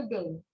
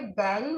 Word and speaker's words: dairy: सबसे पहले हम पढ़ेंगे डेयरी। यहाँ पर देखो, ये डायरी नहीं है, ये डेयरी है, और ये डायरी भी नहीं है, ठीक है।